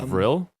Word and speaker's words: vril: job on those it's a vril as in the brill society v-r-i-l mm-hmm is that how you pronounce real uh yeah i've i've heard some about this